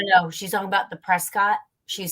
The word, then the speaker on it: Prescott: it up with another town but it is pronounced Prescott which is very well how the people are